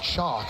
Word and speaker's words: Chock: And Joan has to decide between Guy and is it Chuck or Chalk? Spell that for me. Chalk, C-H-O-C-K. That's the man's first name. Like Chock-a-noodle soup.